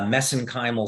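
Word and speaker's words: mesenchymal: uh pronounce this uh mesenchimal stem cells uh because that's how they pronounce it in Ireland so that's how I pronounce it but but the actual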